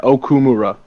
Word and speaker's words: Okumura: Is that how you pronounce that? Yeah, Okumura.